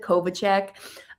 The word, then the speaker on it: Kovacic: uh Joseph Kov, I always say Kovacic because that's reminds me how to spell it, but it's Joseph Kovichek.